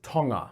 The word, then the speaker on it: Tonga: fascinated with togo all right first off it's pronounced tonga hey guys before we get into this episode